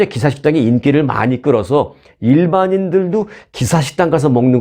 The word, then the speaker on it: 기사: 그러면, 야, 키사. 발음해봐. 키까지는 아니어도 기사 해봐. 기사. 그러면 기사 하겠죠.